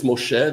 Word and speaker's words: Moshe: It's not Moishe, it's Moshe, the Hebrew pronunciation, not the Yiddish, right?